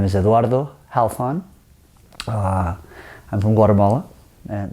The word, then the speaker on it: Halfon: and the last name the pronunciation of my last name goes many many ways it could be had fun - it's an Arab name my grandfather's from Lebanon so however you want I have been here